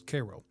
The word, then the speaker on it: Cairo: they called it Cairo, which I've been told locals pronounce as Cairo.